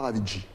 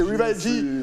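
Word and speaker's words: Rival G: C'est Rivalji. Mais tu me laisses t'appeler Ravidji depuis tout à l'heure. Non, mais tu sais, tout dépend de la prononciation. En français, c'est Rivalji. En anglais, c'est Rivalji.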